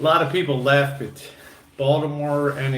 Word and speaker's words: Baltimore: Baltimore and its streetcars, as we say, Balmer. Remember, in Baltimore, you drop the middle syllable, Balmer, okay?